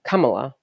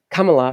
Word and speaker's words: Kamala: See, but you just said it differently. You said Kamala. Kamala is different than Kamala. Kamala. Okay, there's two different ways. So is it Kamala? They're both or spelled the same. Kamala. Doesn't matter if they're pronounced differently.